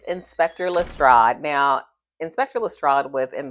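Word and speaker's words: Lestrade: I actually I mispronounced his name in the first video that I did on Ano Holmes, the first one. Um, Estrad. I kept saying Estrad.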